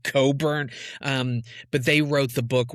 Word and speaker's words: Cockburn: Her real last name is Coburn. It's spelled like Cockburn, folks, but it's pronounced Coburn.